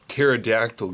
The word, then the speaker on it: pterodactyl: can't you hear a pterodactyl go to the bathroom because the p is silent what's the difference between